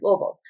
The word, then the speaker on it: Louisville: You just got to spend a little time here and you got to just say it quick, like Louisville. Make it as short and sweet as you can.